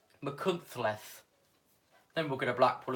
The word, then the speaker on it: Machynlleth: You'll do Machynlleth in a moment, which is the correct pronunciation. Machynlleth.